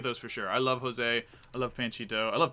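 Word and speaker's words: José: Volume 4 is the Joe Carioco and Panchito comics. Carioco, that's not how you say his name. Jose, and it's not Joe, it's Jose.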